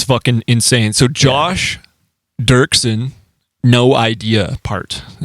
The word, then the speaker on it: Dirksen: Dirksen?